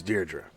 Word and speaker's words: Deirdre: And to all those Greyhawk sticklers, I know that's not the official pronunciation, but it always sounds like Deirdre to me, so that's what I call it.